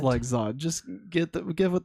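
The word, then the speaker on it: Lexod: awful l e x o d That's awful legs OD I that's what I'm calling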